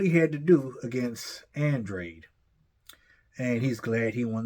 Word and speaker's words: Andrade: and he was surprised that Andre not andr Andre that's how he pronounces his name um quit in the